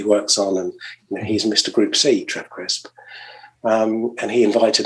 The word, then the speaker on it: Gruppe See: So what I've called it is Group C, actually. But the way that it's spelt is, and this comes from actually the 959 concept, where they use the German spelling Gruppe, Gruppe, and rather than the letter C, it's C as in SWE, because it's it's a